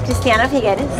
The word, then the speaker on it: Cristiana Figueres: But she an amazing woman, and after she corrected my mispronunciation of her name, was delightful. And so here is Cristiana Figueres. My name is Cristiana Figueres.